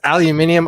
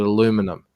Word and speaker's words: aluminium: I think don't quote me on this, but I think it's you Americans and a handful of other countries that call it aluminum. We pronounce it as it's spelled. That's correct. But it's spelt aluminium.